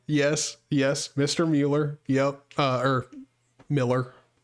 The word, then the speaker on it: Mueller: Mueller, yep, or Miller. Again, it's spelt Mueller, but it's Miller, how you're supposed to say it.